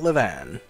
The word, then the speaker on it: Livane: which we're actually going to learn more about levan like that her name is actually pronounced levan so basically this nima sign transported